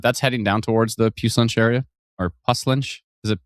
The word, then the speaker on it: Puslinch: I like how a lot of people tried to phonetically spell Puss as Puss, but that just looks like pus. So I think if somebody did it perfect where they did P-O-O, like poo, or they went P-O-O-H and then added an S at the end. Yeah. To phonetically spell puce, I would say P-O-O-H.